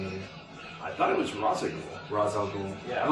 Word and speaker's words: Ra's al Ghul: They call it Rosh al Ghul. Rosh al Ghul. It's Ra's. It's Ra's al Ghul. Yeah. And there are people who go, you will be the next Rosh al Ghul. No, Ra's, dude.